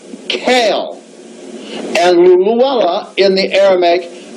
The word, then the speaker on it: Cain: Now note, in the Ethiopic, Cain is pronounced Kale, and Luluella in the Aramaic means a pearl.